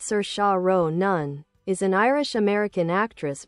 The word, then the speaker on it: Saoirse Ronan: Cersa Ronin, biography. Cersa Ronin, pronounced Sir Shao Nun, is an Irish American actress born on April 12th, 1994 in the Bronx, New York City.